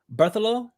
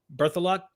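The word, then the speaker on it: Berthelot: her name correctly katel bertholo birth of luck it's like it's spelled like birth a lot b-e-r-t-h-e-o-e-l-o-t something like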